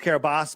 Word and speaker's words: Kiribati: and it's pronounced Kiribati, but I say Kiribati because that's how it was spelled.